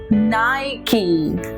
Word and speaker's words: Nike: not be nice but it has to be Nike okay like new key Nike okay that is Nike